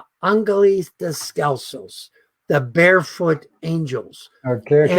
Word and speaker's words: Ángeles Descalzos: we work with a group of children called Angeles Descalzos, the Barefoot Angels. Okay, okay. And Ángeles they descalzos. were called, yeah. How do you say it in Spanish? Correct me, please. Ángeles descalzos.